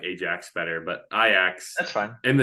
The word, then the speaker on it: Ajax: And then Ajax, who I don't know much about, but I know that they are in the it is Dutch. pronounced Ajax, just by the way. I like Ajax better, but Ajax That's fine.